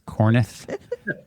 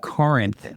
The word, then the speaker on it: Corinth: She always, one of the things we always joke about, so instead of saying Corinth, Mississippi, she says Cornith. And I was like, it's Corinth, like Corinthians.